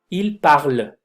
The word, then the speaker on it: parlent: Se va a pronunciar hasta la letra anterior, ¿sí? La letra anterior, por ejemplo, ellos hablan, ils parlent, ven con la L, ils parlent.